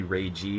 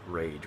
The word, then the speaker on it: Rage: main character actually here his name is rage is uh or it's actually ray g but they spell it r-a-g-e in the game so it's actually supposed to be rage which is a terrible